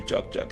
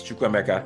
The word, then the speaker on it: Chukwemeka: But where I'm going is Chukwemeka is my first name, and I've seen people struggle to pronounce Chukwemeka, right? People will look at recruiters calling me for opportunities like, hey, am I speaking to Chuck? And like, my job is to explain it's Chukwemeka.